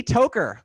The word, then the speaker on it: Tockar: the name incorrectly toker welcome that's right yes i should pronounce it talker because talking is what i do for a living for the most part but that's exactly